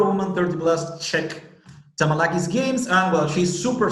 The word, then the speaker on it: Tamalaki: I pronounce it okay? Mm-hmm. Okay, yeah. Tamalaki.